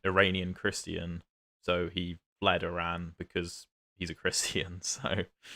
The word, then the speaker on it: Iran: Is that Yeah, that is Iran. I'm going to pronounce it properly. I'm not going to say Iran. It's Iran.